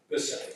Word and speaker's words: Michelli: Actually, one of the parents said they pronounced the M like a B. So Bicelli, because it's Italian or whatever.